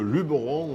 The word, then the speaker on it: Luberon: les étrangers ah ici on est surtout pas le Luberon on est c'est le Luberon on met pas d'accent et on le prononce naturellement on est dans le